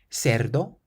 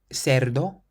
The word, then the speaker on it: cerdo: Cerdo, cerdo, or cerdo, cerdo. And this word means pig, and you can pronounce the C like an S or a Th because it's followed by an E. Cerdo or cerdo.